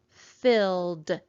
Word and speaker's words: filled: I see that suffix ed says d after a voiced letter. L makes a voiced sound, ol. So that means that this suffix ed is going to go d. And this is the word filled. How many syllables are in the word filled? Let's clap it out together. Filled. There is just one syllable in this word.